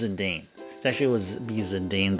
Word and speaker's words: Zidane: It was brought to light that it's actually Zidane. It's actually Zidane. It's actually very close to his Japanese name, which is Jitan.